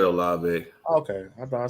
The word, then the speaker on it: Olave: Olivier touchdown. I got me saying his name wrong, and I know how to say it. I Olave.